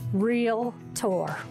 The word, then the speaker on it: Realtor: a real estate professional please please learn to say it right real tour number four be involved